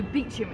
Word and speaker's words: Beauchamp: And you may notice that even with my accent, the word de Beauchamp sounds quite French. And so they changed the way you pronounce their name, we think, from de Beauchamp to Beecham instead.